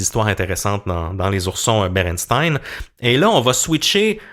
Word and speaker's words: Berenstain: à 99% du temps, ils vont dire Stein avec un E, mais en anglais on comprend que c'est Steen, donc c'est les Berenstain Bears, les oursons Berenstain, et c'est vraiment comme ça qu'on le prononce.